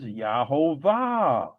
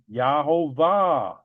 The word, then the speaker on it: Yehovah: Yahovah. Okay. Here again the word give they have a U. It should be a V. So this is without any doubt pronounced Yahovah.